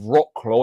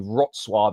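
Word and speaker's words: Wrocław: And I got battered on Tik Tok as well for my pronunciation of uh of Rockclaw. It's actually Rotswave is how it's pronounced.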